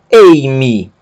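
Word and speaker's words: εἰμί: Então, nós vamos pronunciar eimi, e vamos pronunciar junto com a palavra anterior.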